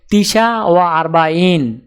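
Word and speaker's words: تسعة وأربعون: উচ্চারণ হবে তিসা ওয়া আরবাইন।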